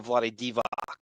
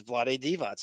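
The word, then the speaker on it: Vlade Divac: people say you would naturally you would go Vlad DevO and most people did. There were like announcers doing that, but it the pronunciation is Vlad Devots.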